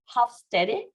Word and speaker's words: Hofstede: but we're going to go our best try with Hofstede, because I think that's how you would pronounce it in German.